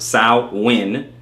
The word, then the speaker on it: Samhain: Samhain, as I said before, okay, pronounced Samhain, is a Gaelic festival marking the end of